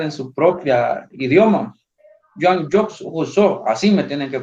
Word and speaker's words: Jean-Jacques Rousseau: Y el segundo, en español le decimos Juan Jacobo Rousseau, pero en realidad los nombres propios se tienen que pronunciar en su propia idioma. Jean-Jacques Rousseau, así me tienen que pronunciar.